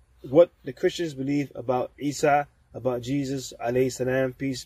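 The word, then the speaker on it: عيسى: Point number four is Christians believe Jesus, peace be upon him, Isa alayhi salam, his name is pronounced in Arabic.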